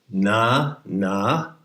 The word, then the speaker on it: Nanahuatzin: It has 3 syllables. 4. Nanahuatzin.